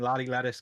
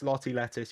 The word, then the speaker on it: Lottie Lettuce: uh on the huskies i'm not going to give it the whole american lolly lattice kind of thing it's lotty lettuce you pronounce the t's americans okay deal with it and he